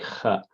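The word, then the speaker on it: خ: Just imagine yourself snoring, and you will say kha, kha.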